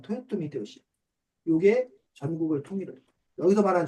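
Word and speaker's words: 豊臣秀吉: 우리 한자로는 풍신수길이라 쓰고 이걸 일본어 발음으로 하면 토요토미 히데요시.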